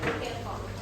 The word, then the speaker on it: Kirchhoff: Nanti kita akan bahas lagi tentang adalah Kirchhoff.